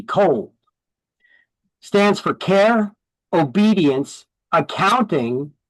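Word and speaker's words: COALD: It's spelled C O A A L D. Cold.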